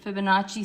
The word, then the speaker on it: Fibonacci: I wish you could actually say the word, but I think it's like the Fibonacci. Am I saying it right? Fibonacci sequence?